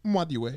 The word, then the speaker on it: Nwadiwe: Because truly it's Nwadiwe. Yeah. So it's like you pronounce it's the N and W at the same time. Yeah. Nwadiwe.